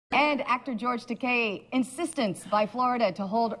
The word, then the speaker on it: Takei: Rhymes with okay. Okay. Why do we all think it's the However, other? well, because the EI in my name, the people want to give it the Germanic pronunciation, like Einstein. Oh, okay. But do you speak Spanish? Yeah. A little bit. Yeah. It's pronounced the Spanish way. E como en escuela, I como en iglesia. Takei.